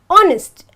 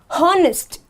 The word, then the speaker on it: honest: When I pronounce the word honest, I have to say honest and not honest. So automatically this becomes silent and the first word, my word, begins with the word O.